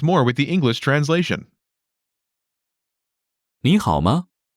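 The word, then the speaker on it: 你好吗: way how are you nihalma first is next is how good how how pronunciation note when there are two third tones in a row the first one changes to the second tone listen to the pronunciation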